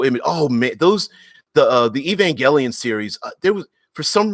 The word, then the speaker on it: Evangelion: Tesla says the in Evangelion, note pronounced with a hard G, Evangelion. I didn't know that. I've always pronounced it Evangelion, but note pronounced with the hard G.